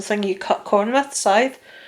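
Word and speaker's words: Sadhbh: yes her name is scythe as in it's pronounced like you know like the grim reapers thing or the thing you cut corner with side it's spelt s a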